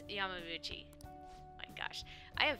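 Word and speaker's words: Yamauchi: anyway i heard they're going to get mr yamabuchi as their new advisor huh yabbabuchi hold on that yeah yeah yeah it's yamamuchi oh my gosh i am very bad at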